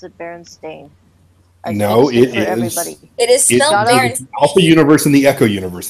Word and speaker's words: Berenstain: haven't I know it's spelled Berenstein but you pronounce it Berenstain I know also universe in the echo universe